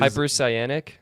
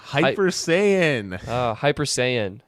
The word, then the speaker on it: Hyper Saiyan: The name that you always mess up, which is Hypercyanic. No, Hyper Saiyan. Hyper Saiyan. There's no ick at the end.